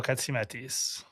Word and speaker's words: Katsiametis: The Way with Katsiametis.